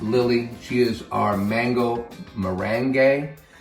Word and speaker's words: merengue: She is our mango merengue. I think we're probably pronouncing that right this time. Mango merengue. I know, I thought it was meringue, but it's forget about it. Merengue.